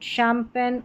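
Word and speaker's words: champagne: यहां पर parachute, शैंपेन और यह है शेफ। तो इन सारे स्पेलिंग्स में सी एच को श पढ़ा जा रहा है।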